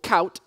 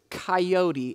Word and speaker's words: coyote: And it took me a while to recognize that what Steve was telling me was that he was using one syllable, cout, to describe a three-syllable word, which was coyote.